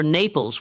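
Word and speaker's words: Annapolis: The ship was bound for Naples, which some captives recognized as the Mandinka pronunciation of Anapapolis.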